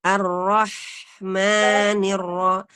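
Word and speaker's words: ar-Rahmanir-Rahim: alif dengan tipis dan jangan memanjangkan huruf mim melebihi kadar Mad thobii jika membacanya dengan disambung misalnya arrohmanirrohim juga tidak boleh panjang ya Jadi ar-rahman kadang-kadang ar-rahmannirrohim Nah itu kepanjangan tersebut kemudian Maliki semua hurufnya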